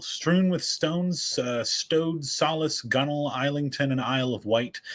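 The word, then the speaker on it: gunwale: reader to know how to pronounce how to pronounce gunnel uh well you know I as a as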